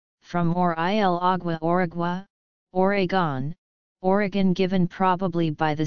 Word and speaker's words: Oregon: According to the Oregon Tourism Commission, present-day Oregonians/Roninz/ pronounce the state's name as Oregon, never Oregon.